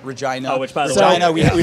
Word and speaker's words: Regina: city that live in which is regina which rhymes with something else that is fun uh